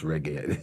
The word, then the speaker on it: reggae: to me, "Levi, and he couldn't even pronounce reggae. He said, Reggie sauce.